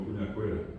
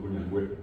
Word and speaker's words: cuñangüera: A nosotros ya nos cuesta decir cuñangüera, decimos cuñajera, pero no es el guaraní, guaraní, ellos siguen diciendo cuñangüera, ¿verdad?